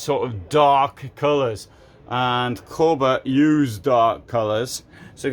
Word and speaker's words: Kabe: This is Kabe, which I've just learned how to pronounce. In Swedish it says Kabe, not Kabe as I've been calling it up, or well, I don't think I ever called it Kabe, but it's Kabe.